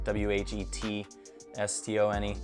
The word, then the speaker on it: whetstone: This is a Japanese version, a whetstone, spelled with one word, and they throw an H in it, W-H-E-T. S-T-O-N-E.